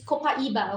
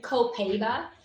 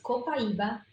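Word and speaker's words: copaíba: relationship with Copaiba because and it's Copaiba, okay? Do you guys want to learn how to say it in Portuguese? Copaiba. There you go. I've heard Copaiba. It's Copaiba. So you say it like a native.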